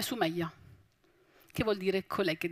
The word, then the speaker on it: Sumaya: Per esempio, tutti mi conoscono col nome di Sumaya, con la bella aperta. Ma il mio nome è Sumaya, che vuol dire colei che si distingue.